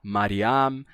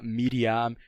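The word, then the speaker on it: מרים: o som de A então você tinha mariam sham e esse som mudou para Miriam shimon então vocês podem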